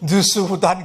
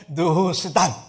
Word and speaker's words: 느후스단: 어떨 때는 제가 발음을 잘못해가지고 느스후단 그러기도 하는데 느후스단, 이거는 노조가 이런 의미예요.